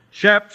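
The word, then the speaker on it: chaps: a good word to start with today Charlie shaps is spelled c h a PS and it's pronounced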